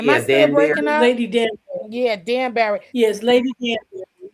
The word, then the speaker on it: Danbury: And this is when Lady Denenberg, what's her name?